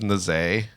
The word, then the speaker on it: Nazi: And he would say it was Naze.